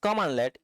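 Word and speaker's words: cmdlet: A CMD-led pronounced commandlet is a lightweight specialized command used in the PowerShell environment to perform a single management task.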